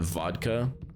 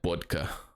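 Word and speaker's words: водка: it was funny that vodka is spelled with the cerillic character that looks like a B, but you're supposed to pronounce it as a V, but then my teacher would always call it bodka.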